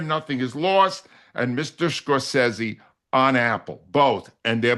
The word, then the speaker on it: Scorsese: I thought you were mispronouncing I thought you were mispronouncing his name. Scorsesei is the way he pronounces it.